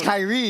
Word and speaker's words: Kyrie: was Kyrie. His name was K-Y-R-I-E. Yeah, remember? K-Y-R-I-E, pronounced Kyrie.